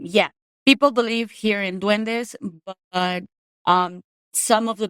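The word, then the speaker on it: duende: So yeah yeah it's dwende that we call it dwende and um yeah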